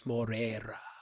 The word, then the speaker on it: Moreira: You double roll the R's. Morera.